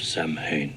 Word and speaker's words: Samhain: that they all mispronounced samhain the festival of samhain for the record it's pronounced samhain i guess we get another returning character from